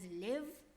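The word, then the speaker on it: לב: And so it says, with all your heart, invokes the Hebrew understanding of heart, which is usually pronounced as lev, as the center will.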